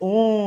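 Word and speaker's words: ohm: एम वाला ओम नहीं ओम एच आता है बीच में बोलते हैं ओम ये है बट एच साइलेंट होता है ओम ठीक है ओम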